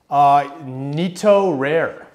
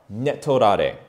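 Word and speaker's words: 寝取られ: Netorare. Netorare. Netorare. So this is a Japanese word. Let's break it down phonetically. So ne, referring to sleep, as in sleeping with someone in an affair, aka cheating.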